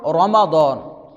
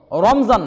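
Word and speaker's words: رمضان: রমাদান এটা হচ্ছে আরবি শব্দ, এর উচ্চারণ রমাদান, রমজান না, রমাদান উচ্চারণ। রমাদান এটা রমদুন এর মূল ধাতু থেকে নির্গত।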